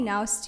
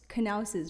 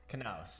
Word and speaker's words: Knaus: I mean, okay, I would say Naus too, but it's called Knaus's, right, Mike? Knaus. Knaus, yes.